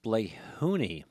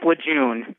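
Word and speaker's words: Lejeune: go to uh G I want to say Camp Leone or is it Leon or something in North Carolina um Spencer did I what's the right way to say that word uh Camp W June oh W June I wasn't even close yeah oh they misspelled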